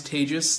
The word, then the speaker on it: Tejas: me my name is tejas that's pronounced unfortunately like contagious maybe i should find